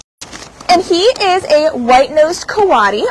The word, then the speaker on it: coati: he is a white-nosed karate also known as a kawada Mundi or can also be pronounced Cody he is six years